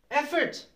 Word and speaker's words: effort: Effort. Effort. That's how you say it.